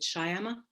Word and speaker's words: Shyama: send it to you is it shyama i don't want to say your name improperly sorry it's pretty name i just don't want to say it wrong yes perfect i will send that